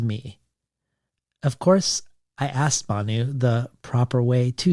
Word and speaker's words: Bhanu: my mother's capil pronunciation it's hard to pronounce my first name because our mouths or our soft tissue form didn't form around BH sound so it sounds like P when we as English